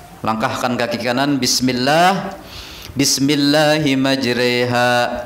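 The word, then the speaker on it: مجراها: Langkahkan kaki kanan, bismillah, bismillahi majreha, tulisannya majroha, bacaannya mestinya fathah, tapi dibaca imalah mereng, jadi bacanya majreha.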